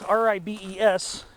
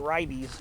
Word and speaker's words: Ribes: And I see another species of ribes, which ribes, R-I-B-E-S, I think a lot of people pronounce it ribes, probably, but I just pronounce it ribes.